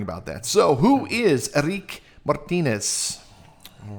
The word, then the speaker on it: Eríc: Am I pronouncing that right? Eríc? Yeah, Eríc.